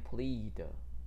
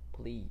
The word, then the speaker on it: plead: 那这个里面的 E-A 发长音，我们念 Plead Plead。